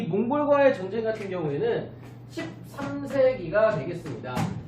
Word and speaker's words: 몽골: 또 몽골이라고 하는 발음이 어려워서 중국 애들이 몽고라고 붙였다고 합니다. 그래서 몽고라고 하는 거는 몽골 사람들을 무시하는 발언입니다. 그래서 우리는 한자로는 몽고라고 쓰긴 하지만 실제로 발음하거나 쓸 때는 몽골로 해야 됩니다.